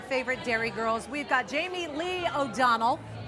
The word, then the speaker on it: Jamie Lee: We've got Jamie Lee O'Donnell. Yes. I said it right. Not Jamie. Right, because everybody wants to make her. All Americans call me Jamie.